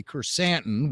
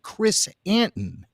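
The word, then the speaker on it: Krrsantan: don't know i i in the show they pronounce it two different ways they say chrysanthen which i've always said and they also say chris anton does he buy doe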